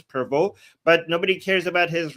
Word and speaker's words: Prevost: His real name is Robert Francis Prevost, I think, because it's written Provost, but I think the last ST part is not pronounced, so it's Robert Francis Prevost, but nobody cares about his real name now.